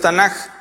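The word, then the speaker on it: Tanakh: lo abrevian con las siglas que en su pronunciación es Tanaj, es el Antiguo Testamento.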